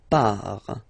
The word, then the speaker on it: pars: So the first form is je pars. So final S not pronounced.